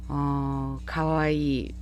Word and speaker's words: かわいい: 이 하고 끊지 마시기 바랍니다. 이를 길게 발음하시고요. 가와이 뭐 일본 연예인들 대표적인